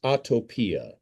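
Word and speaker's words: atopia: Autotopia.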